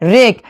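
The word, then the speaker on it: wreck: रेक।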